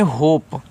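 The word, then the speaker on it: hope: होप एच से ह ओ से ओ की मात्रा हो पी से प होप। इसका उच्चारण नहीं करना है।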